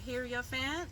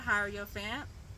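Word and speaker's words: hierophant: So, last week's card was the heroant or hierofant, depending on how you pronounce it.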